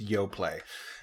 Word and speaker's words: Yoplait: yo play yo play so it is pronounced yo play hello everyone welcome to